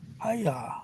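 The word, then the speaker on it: Haigha: His name is Higa. Maya. He pronounced it so it rhymed with maya. Haya.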